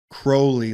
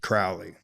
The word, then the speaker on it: Crowley: true will he said it's pronounced Crowley like holy that's how he yeah he said I can see his eyes he would say that yeah but everybody pronounced it Crowley yeah you know yeah